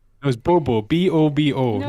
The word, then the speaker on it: Bobo: Because you're writing it B-O-O, like boo. Yeah, baby. I'm like, no, it's Bobo. B-O-B-O. You're like, no, No. it's boo boo.